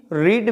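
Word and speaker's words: read: रीड पर लिखते हैं रीड, बट इसका प्रोनाउंसिएशन रेड होता है, इसलिए होगा सी रेड मेनी स्टोरीज, है ना।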